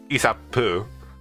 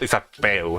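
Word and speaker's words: Isabeau: It is, I think it is pronounced Isapu. Isapu? No, not Isabel, like I've been pronouncing it.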